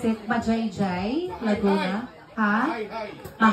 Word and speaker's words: Majayjay: He got 1 million followers on TikTok from how do you pronounce it? Majayjay Laguna. Ha? Maay. Hi.